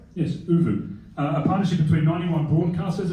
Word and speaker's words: Oovvuu: as Ricky, launched Oovvuu, a partnership, yes, correct pronunciation? Yes, Oovvuu.